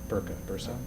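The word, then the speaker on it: Börse: have corrected me had i or was it bursa bursa got it burka would be something different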